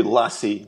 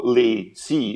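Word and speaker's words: LaCie: because uh funnily enough here in France we say Lassie like the dog ah okay and I think in America they sort of go lay c as if it was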